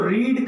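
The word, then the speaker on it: read: तो रीड का रीड रेड होता है, बट स्पेलिंग सबकी वही होती है।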